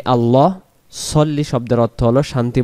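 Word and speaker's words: على: শব্দের অর্থ হলো এবং আলা এটা হবে আলা আর আমাদের অনেকে ভুলক্রমে তাড়াহুড়া করার কারণে বলে ফেলি ওয়ালা আলী মোহাম্মদ তখন এখানে ওয়াও জবর ওয়া লাম জবর লা ওয়ালা তো এখানে আছে আলা শব্দের অর্থ হলো উপর আর যদি লা পড়ি তখন লা শব্দের অর্থ হলো না এখানে ওয়ালা উপর কার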